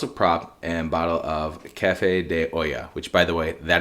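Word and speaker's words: Café de Olla: got two bottles of prop and bottle of Cafe De Oya which by the way that is how you pronounce it not Ola not allaha not whatever the hell we call it sorry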